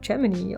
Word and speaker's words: Gemini: Now maybe you're thinking, aren't you pronouncing Gemini wrong? Actually, no, that's just how it was pronounced then, the whole mission, everybody that was working on it said Gemini, although I don't think